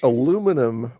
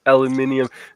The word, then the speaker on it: aluminium: My understanding is what what word his aluminum was actually the original pronunciation and well they they came out around the same time but if you really want to get into technicality aluminium actually came a little bit first before just before Rand